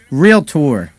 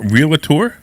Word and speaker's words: realtor: in one of these how do you say that word real tour it's not realator uh if you say real it tour you're probably not a realtor i know a lot